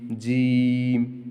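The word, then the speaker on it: ج: জিম জিম জিম জিম মুখ দিয়ে কোন বাতাস বের হবে না জিম উচ্চারণ সময় জিমটা খুব শক্ত হবে জিম জিম জিম জিম জিম জিম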